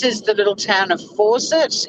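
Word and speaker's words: Forcett: little town of fawcett's it's not fawcett like attack f-a-u c-e-t no bull horse three dollars a bag anyone need any more three bucks a bag yeah it's not force it like a tap but it's pronounced the same way blink and you'll miss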